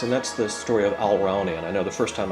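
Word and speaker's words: Alraune: in this case and that's the story of Alranian. I know the first time I told you this uh I ought to spell it cuz it's hard to figure out my pronunciation.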